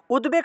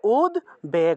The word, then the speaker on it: উদ্বেগ: এখানে উদ্বেগ শব্দ আছে মনে রাখবেন উদ্বেগ শব্দের ক্ষেত্রে উদ্বেগ শব্দের ক্ষেত্রে এই যে দ এর নিচে বফলা আছে উদ্বেগ শব্দের ক্ষেত্রে এই বফলাটাকে উ রূপে উচ্চারণ করা হয় না এক্ষেত্রে বটাকে ব হিসেবে বফলাটাকে ব হিসেবে উচ্চারণ করা হয় তাহলে উদ বেগ উচ্চারণ করব উদ্বেগ তাহলে এক্ষেত্রে দেখুন ভয়